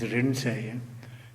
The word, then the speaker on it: Rinzai: Japanese pronunciation is Rinzai, Chinese is Linshi and so on.